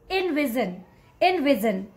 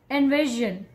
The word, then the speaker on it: envision: This one, okay, I can say, you might be mess upping here, that instead of envision, you might be calling it envision, okay? But the correct way to say this word is envision.